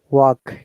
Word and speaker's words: walk: Remember, L is silent. 1.5 hours. Half. So Half these are hour. the words where L is silent. Half, calf, yeah, walk, yeah. L is silent. Yeah. We don't pronounce. Okay. If there is LF, LK, we do not pronounce L.